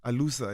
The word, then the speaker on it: Alusa: And the album is called, let me see if I'm pronouncing this right. Alusa. Alusa. Yes.